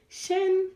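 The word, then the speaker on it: 身: Shen, shen, shen. Very good. Shen means body, body.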